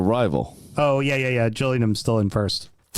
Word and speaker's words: Gillingham: and that is Gillingham Gillingham you mean the gills even though it's they call them jills yeah I hate I hate jilling them Gilling them finally The